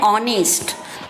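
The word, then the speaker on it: honest: यहाँ पर हमारी स्पेलिंग किससे स्टार्ट हो रही है, ऑनेस्ट की एच से स्टार्ट हो रही है, लेकिन एच हमारा यहाँ पर साइलेंट लेटर है, इसीलिए हम यहाँ पर ऑनेस्ट के पहले एन लगा रहे हैं।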